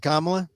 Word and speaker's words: Kamala: that uh Jewish American he said kamla yep he used the word he he pronounced it correctly yeah well 60% of